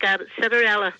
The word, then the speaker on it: Citarella: Sounds like Cinderella, but it's not. No, it sounds like Citarella.